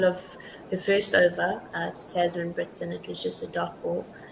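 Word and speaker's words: Tazmin: Yeah, so we were chastised for the pronunciation of Natsiva and Tasman Brits, not Tamsin Brits, as you correctly pronounced that.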